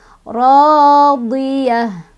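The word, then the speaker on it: رَاضِيَة: Radiyah. Tak marbutoh ketika berhenti jadi ha ya. Radiyah jadi ha sukun.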